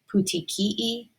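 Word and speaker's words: petechiae: word I had to look up how to pronounce it but it's called pouti Kei um this is like little spots on the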